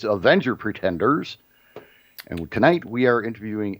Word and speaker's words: Avenger Pretenders: This is Avengers Pretenders. I said it wrong. It's Avenger Pretenders.